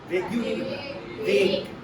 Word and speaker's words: vague: These words were like Vague. Vague. Vague. sharp. QE is silent.